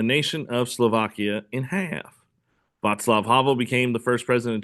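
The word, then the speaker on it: Václav: At the end of the month, the guy named Vatlav, that's how you pronounce it. That's how your book says it's pronounced. Vatlav Havl, a writer who played an important role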